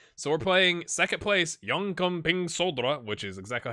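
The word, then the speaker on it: Jönköpings Södra: work on that so we're playing second place young coming solder which is exactly how you say it and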